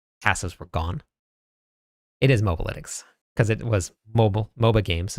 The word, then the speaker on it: Mobalytics: said that it was Mobalytics or something. I think that's what it was. Yes. But it's not. It is MOBA because it originated from MOBA games and they did analytics for all of the builds in the games.